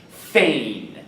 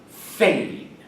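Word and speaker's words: feign: fourth word in chapter 16 page 98 is pronounced Fain again Fain the sentences are since I have heard about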